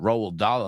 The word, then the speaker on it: Roald Dahl: Roald Dahl, a Norwegian name because he was born to Norwegian parents.